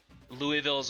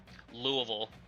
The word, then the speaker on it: Louisville: The The less syllables you have in the word, the more correct you're saying it. So, so like Louisville, that's the that's the most incorrect you can be saying it.